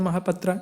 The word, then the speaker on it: महापात्रा: है और ये देखिए mahapatak के उच्चारण महापात्रा जितने भी महापात्रा आपको